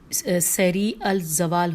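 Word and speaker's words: سریع الزوال: شیریں اور اب یہ جو ورڈ ہے نا سیری الزوال ہوتا ہے۔ اچھا، اس کی میں ہجے کرتی ہوں، سین یہ رے عین، سین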